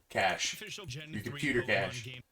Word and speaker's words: cache: CH A's you know is it spelled the same way c-a-c-h c-a-c-h-e cash it's your memory on